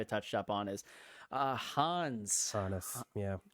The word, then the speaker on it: Hannes: It's Hans. I'm calling it Hannes because that's how they say it in Japan, and I can't well, I mean, because we looked up a pronunciation. Apparently, it's called Hans. It's called Hanes. Hanes, like the underwear, but I'm not calling it Hanes.